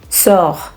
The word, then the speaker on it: sœur: Whereas option B and C, Peur, sœur, these two are open U sounds. That means our mouth is a little more open when we pronounce it.